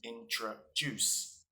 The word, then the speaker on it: introduce: an example for instance introduce is pronounced with a stress at the end so it sounds like this intra-juice now sometimes when you